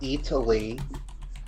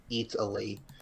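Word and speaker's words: Eataly: Um it's called Pronto Italy. Uh and I'm I'm not mispronouncing it. It's just a pun. It's It's like Italy except it's E A T A L Y. Yep. Italy.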